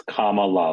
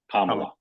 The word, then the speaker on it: Kamala: and non- hectoring way how to pronounce the vice president's name it's Kamala like the EXP like the punctuation mark Kamala sorry thank you that's